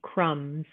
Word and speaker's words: crumbs: The B is a silent letter, so we say the word lamb, combing, or crumbs. We don't say lamb, or combing, or crumbs. We say just the letter M, and that letter B is our silent letter.